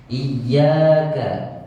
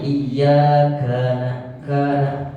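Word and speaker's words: إِيَّاكَ: na'budu wa iyyaka nastain huruf k besisnya kecil saja iyaka jangan iyakana itu terlalu deras i biasa i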